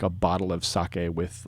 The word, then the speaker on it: sake: character for alcohol sake it's not saki with an i it's sake uh the character for